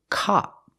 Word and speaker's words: cop: uhuh cup cup and the second word is cop it's more open cop like hot and stop cop so it should be